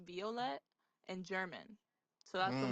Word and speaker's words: Violett: Purple colors in different languages so actually it's pronounced Violet and German so that's what my name originally